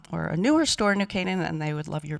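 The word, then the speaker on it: New Canaan: For those who didn't know how to pronounce this wonderful town, it's New Cananan, not New Canon.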